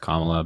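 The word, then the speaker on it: Kamala: VP Harris that's fine it's also just not that hard to pronounce her name it's just comma but you can say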